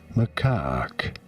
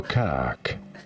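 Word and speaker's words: macaque: Macak. You do want to stress on the second syllable. On the car syllable. On the what syllable? Macak pretty straightforward once you know Macak and now you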